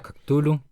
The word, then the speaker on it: Cthulhu: Yo pronuncio Cthulhu, pero parte de la gracia, y eso está escrito en las cartas entre él y su círculo, ¿verdad?